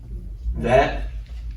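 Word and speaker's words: וית: And then we have the vet, which is pronounced like the letter V, like in Victor, or something else.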